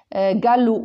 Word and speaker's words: galop: on rajoute un thé gallou galoper donc on ajoute un la lettre miel c'est un p d'accord donc vous voyez